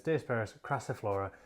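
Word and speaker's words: Diospyros crassiflora: species gabon ebony um but indeed the correct pronunciation is dispersed craciflora and i wonder how long i've been mispronouncing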